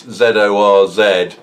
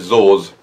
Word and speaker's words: Zorz: It's Zorz. There's a little sort of upside down circumflex accent on both Z, so I'm going to call it Zorz.